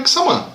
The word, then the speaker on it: Quissama: Se for o mesmo lugar, então é Kisama.